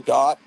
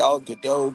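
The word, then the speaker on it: Gadot: while she was pregnant G Gat I want to pronounce it g gdau because Bridget BAU but you know I guess she knows how to pronounce her name so I'll say Gat she was really good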